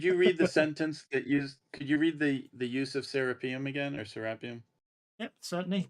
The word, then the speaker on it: Serapeum: Spell it right. I want to say Serapeum or something, but anyway, by Theodius. Serapeum.